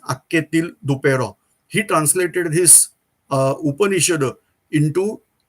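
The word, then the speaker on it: Anquetil-Duperron: Spelling is something different, but the pronounce of that spelling is Akketil Dupeyron.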